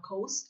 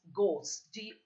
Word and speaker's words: ghost: It's not ghost, it's ghost. G-O. H is silent.